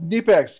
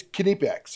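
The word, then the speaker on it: Knipex: keep going we got knee packs kidney packs kidney someone's always gonna try to correct my pronunciations it's kidney pecks okay you do pronounce the k anyway anytime I can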